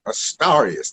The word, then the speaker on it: Astarius: And you pronounce that Astarius. Think of the stars rather than the stairs.